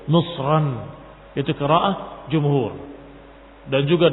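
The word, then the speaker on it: مصرًا: itu dengan kalimatnya ihbitu misran faain lakum maaltum turunlah kalian ke Mesir dan ini bacaan jumhur misran dengan Alif misran dengan Alif yang menunjukkan bahwa itu dengan tanwin bukan ihbitu Misra tapi ihbitu misran itu qaah jumhur dan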